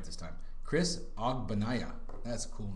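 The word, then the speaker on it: Ogbonnaya: Chris Ogbanaya.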